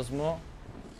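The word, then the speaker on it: Smough: Ma è Smo, Smef o Smog? Smo. Sarebbe tipo Smo. In realtà, S-M-O. La pronuncia.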